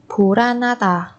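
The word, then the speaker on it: 불안하다: Ở đây phù an và ha thì chúng ta nối âm này và biến âm thành phù ra na ta, phù ra na ta.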